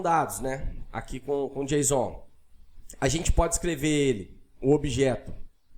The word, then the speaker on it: JSON: formatados usando Jon né pronuncia-se Jon exatamente como eu tô fal falando aqui no com você é parecido com a sintaxe